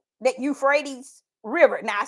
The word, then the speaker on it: Euphrates: what is actually going to take place that eup frees that Euphrates River now I said it right that time